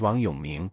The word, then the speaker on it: Wang Yong: saw on the video my full name in Chinese is Wang Yong and its pronunciation is similar to want you me to make it